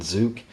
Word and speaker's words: Zook: on igniter chill and zuk again a lot of people last time around wondered how to pronounce them it's actually just like bazooka you know mineus the beginning and the end as you can see